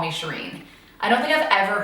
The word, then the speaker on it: Shereen: are is smiley or are brown will say sheeren cuz that's that's actually the way you're supposed to pronounce it I'm named after my grandma and